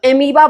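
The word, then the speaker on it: amoeba: नाम याद करने के लिए अभी बोलो एमोईबा. ओ भी है, बोलते वक्त ओ साइलेंट हो जाता है, सो एमीबा बोलते हैं.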